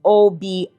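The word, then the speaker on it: Obeah: In Jamaica, it is pronounced Obia.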